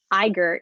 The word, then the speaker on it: IGERT: directorate where he oversees the iger well at least that's how i pronounce it the igert the nrt